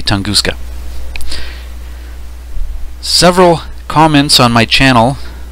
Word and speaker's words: Tunguska: tunguska event of 1908 there are probably different ways to pronounce that but i'm going to say tunguska several comments on my